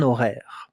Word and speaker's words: horaire: A schedule, un horaire. Pay attention, it begins with an H that we don't hear. We don't listen to the H.